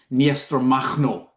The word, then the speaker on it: Makhno: admire is is Nester Machno. I get totally blank looks. Um, and that is I think because I wasn't saying Machno, um, which is clearly how you're supposed to say his name, which I now know